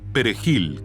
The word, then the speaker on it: perejil: la palabra española perejil Los dominicanos lo pronuncian perejil con una r española trinada pero el idioma haitiano